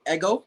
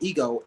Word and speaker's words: Égo: i go informally by eggo well it's pronounced kind of like the waffles it's although it's spelled